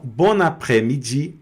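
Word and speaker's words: bonne après-midi: Então, bonapremid aqui no caso, o S não não é pronunciado, sumiu.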